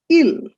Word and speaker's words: ils: Ils and elles, plural, that is they. The s is silent in both cases.